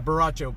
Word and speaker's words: borracho: Borracho beans, they are so good. My dad loved my wife's borracho beans. Borracho. You guys want some borracho beans? Yeah, my dad loved my wife's borracho beans. And obviously I'm not pronouncing it like a Mexican, but maybe that's because I'm white.